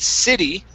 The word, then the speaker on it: city: With city, the stress is at the beginning, and it's a short I sound.